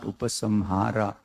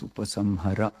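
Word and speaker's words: उपसंहार: Upasamhara. I'm sorry, I pronounced this word wrongly. Kindly note, it is not upasamhara, it is upasamhara.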